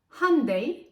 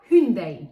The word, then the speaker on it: Hyundai: Hyundai i20 maddesi bu Güney Kore markasını doğru okunuşu handeyy veya hündin şeklinde böyle söyleyince çok başka